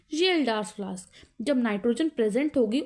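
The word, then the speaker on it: Kjeldahl: जिसको हम बोलते हैं जल्डर्स फ्लास्क यहां पर केस साइलेंट है कभी के जल्डर्स पढ़ लो के साइलेंट है ठीक है बड़ा एक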